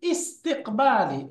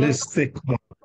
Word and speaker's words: لاستقبال: তো এই জন্য তার পূর্বে যখন অন্য শব্দ চলে আসবে, এই হামজাটা লিখাই থাকবে, উচ্চারণ ইস্তিকবাল, হবে না। মূলত লিস্তিকবাল, হ্যাঁ, লিস্তিকবালি রাইসিহিম, লিস্তিকবাল মূলত ছিল ইসবালুন।